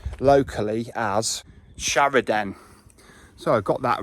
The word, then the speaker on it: Shrawardine: Westerly sort of North Westerly shopshire Village of sh wooding or Shorewood um but it is actually pronounced locally as sharidan so I got that right early on um